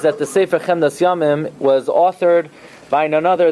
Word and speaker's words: Chemdas Yamim: The correct pronunciation is Chemdas Yamim, not Chemdas Hayamim.